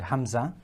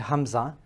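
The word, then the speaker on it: ء: Now, when we are looking at alif and ha and hamza, okay? When we're looking at alif and hamza, please note that these two are pronounced from the bottom of the throat, okay?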